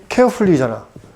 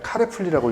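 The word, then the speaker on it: carefully: 이거 뭐라 읽어? 케어풀리잖아. 근데 나는 중학교 때 이거를 그냥 카레풀리라고 읽었거든.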